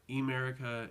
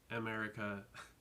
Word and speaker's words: Emerica: It's not Emerica, it's just America, which drove me insane when people would be like, I love Americas.